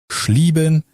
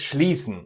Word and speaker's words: schließen: Schlieben. Schlieben. Yeah, to close is schließen, not schlieben, but there's more.